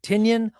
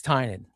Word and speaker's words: Tynion: And my question was James, do you pronounce your name like onion? Is it Tinian or is it Tynion? And he goes, you actually understand the Irish pronunciation. I said, yeah. And so he goes, it's Tynion.